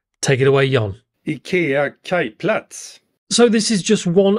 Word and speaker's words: Kajplats: but I'm going to let my Swedish colleague pronounce the name. Take it away, Jan. IKEA Kajplats.